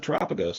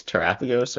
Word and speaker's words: Terapagos: But you could drop the Terapagos in. Yeah, you could. Also, how do you say? I think it's Terapagos, or you said Terapagos, but I've heard people say Terrapagos, which sounds weird to me.